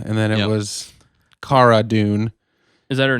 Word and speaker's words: Cara: I heard her say it's pronounced Cara, not Kara.